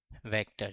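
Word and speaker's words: समान्तर: समरूप या समानांतर सदिश। हम इन्हें हिंदी में क्या कहते हैं? समंतर सादिश। इसे समन्तर लिखा जाता है। इसका उच्चारण समनंतर होता है।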